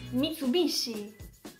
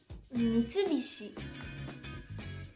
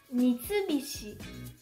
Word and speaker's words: Mitsubishi: Un altro esempio in tema automobili è un'altra marca giapponese, Mitsubishi, che non si pronuncia Mitsubishi, ma si pronuncia Mitsubishi. Mitsubishi.